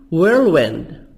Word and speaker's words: whirlwind: Whirlwind event. H silent. Balance. Equality. British American equality. TY soft DY منطقة دي خفيفة Y.